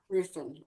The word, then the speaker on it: Ruthven: So, but I really liked Ruthven. I think he was my favorite character. And I don't even know if I'm saying that right. Am I saying it right? Yes. Ruthven.